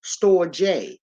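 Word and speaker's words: storge: type of Love okay then we got this storage s-t-o-r-g-e it's pronounced store J this is the love between the parent the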